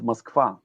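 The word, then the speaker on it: Москва: in many cases we we pronounce a uh though it's written oh it's muskva.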